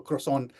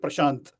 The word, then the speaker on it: croissant: creator on social media mispronounced the croissant, and he pronounced it Prashant.